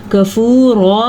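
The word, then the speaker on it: كَفُورًا: کفورا میں را پر پڑی جائے گی.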